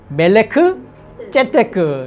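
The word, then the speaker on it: מלכי־צדק: 근데 이제 원문 그 발음을 그냥 해보면 멜기세덱이 아니라 멜레크 째테크 이렇게 멜기세덱, 멜레크 째테크라고 합니다.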